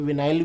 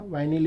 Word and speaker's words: vinyl: है वाइनिल, या कोई विनाइल भी बोल देता, वाइनिल या विनाइल बोलने के ऊपर है बेटा, प्रोनाउंसिएशन के ऊपर है ना।